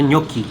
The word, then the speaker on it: gnocchi: Tulisannya gnocchi, tapi bacanya gnocchi.